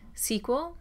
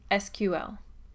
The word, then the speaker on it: SQL: At this point, you've probably heard me pronounce SQL two ways, SQL or SQL.